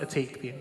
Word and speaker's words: Ethique: lying right nope so it is pronounced a take lots of people get really mad you lie why don't you put a night in it I don't know how's